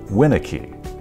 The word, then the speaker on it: Winicky: For example, with my name, Winicky, if it's displayed all in lowercase, win a key, you don't know what syllable to emphasize. The correct way would be the first syllable in capital letters, Winicky.